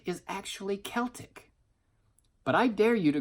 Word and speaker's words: Celtic: get online and find out that the correct pronunciation for the word Celtic is actually Celtic.